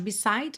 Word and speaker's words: beside: O e final de beside não é pronunciado.